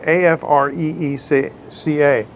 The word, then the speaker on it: Afreeca: It's not Africa, it's but I didn't do it. Afreeca.